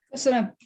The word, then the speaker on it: köszönöm: Kozono, is that really how you say it? It's thank you in Hungarian. So yeah. Köszönöm.